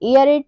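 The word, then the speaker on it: aerate: मतलब होता है हवाई ए ई आर ए टीई एर रेट एयर रेट मतलब होता है वस्तु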